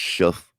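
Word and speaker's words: Shough: I think it's pronounced shuff. Like, like a shuff.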